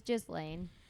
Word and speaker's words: Ghislaine: Ghislaine was, I think I'm saying that right. No, they pronounce it a little bit different. Do they? Ghislaine? Yeah. Yeah. It was Ghislaine.